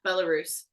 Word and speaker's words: Belarus: Yeah, Belarus.